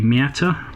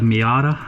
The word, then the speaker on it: Miata: In the USA you have it as the Miata or Mazda Miata, No real T pronounced in the pronunciation of Miata.